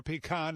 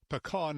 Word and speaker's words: pecan: Trying to agree on a pronunciation for pecan, as we say in the Northeast, or pecan, as some say, can make you nutty.